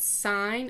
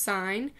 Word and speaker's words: sine: Sine, I know it looks like sin, but it's pronounced sine.